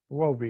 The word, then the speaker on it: Huobi: Might, I don't know, okay, but it is a big thing because Wabi is, I think, the third largest, still the third largest exchange out there, you know.